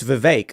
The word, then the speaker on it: Vivek: But we've had guests where we'll be like, it's Vivek, like cake.